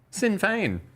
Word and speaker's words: Sinn Féin: The reason why I had no idea what you were saying is because how do you pronounce that? Sinn Féin.